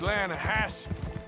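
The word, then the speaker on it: Lannahechee: Yeah, but it's pronounced Lanahassi. Why is everything in English said differently than it's written?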